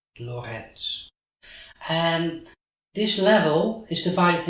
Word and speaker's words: Lorentz: hendrick anton loretz he's dutch that's why i'm pronouncing his name in dutch hendrik anton lorenz and this level is